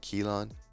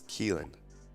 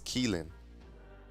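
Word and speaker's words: Keelon: here our freshman quarterback I've been saying Kean it's kelen kelen Russell they call him key but it's keln Russell all right so remind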